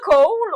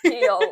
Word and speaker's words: Chaol: Puis elle l'avait vraiment spécifié, c'est comme, ben, tu le prononces comme si tu disais chaos, mais à la place du S, c'est L. Fait qu'au début, moi, je l'appelais Cole, mais c'est Kale, tu sais.